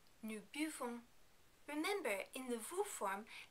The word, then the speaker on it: buvons: Remember, in the new form, we don't totally pronounce the last n because there isn't a vowel after it. Nous buvons, nous buvons.